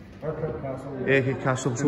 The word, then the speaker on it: Urquhart: I think I've pronounced it right. Is that right? Urquhart? Urquhart Castle, yeah.